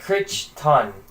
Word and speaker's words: Crichton: You would never know how it's pronounced if you just look at his name. It would be like Cretan or something. Yeah, it's like Crichton.